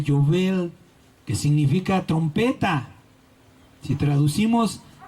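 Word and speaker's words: יובל: la otra amén el jubileo en hebreo se pronuncia Joel que significa trompeta si traducimos la palabra al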